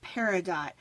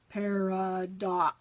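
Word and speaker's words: Pardot: so I got online I Googled how do you pronounce this word CU I didn't want to say it wrong and the video go or the little mouth thing says par do I thought that was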